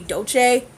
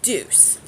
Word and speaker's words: Deuce: I thought it said I thought it was probably Dolce the husband thought it's a douche no it is the deuce from Julius place so let's go ahead